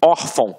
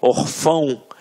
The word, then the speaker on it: órfão: Até mesmo porque se fosse um acento, a gente não ia falar órfão. A gente ia falar o quê? Orfão.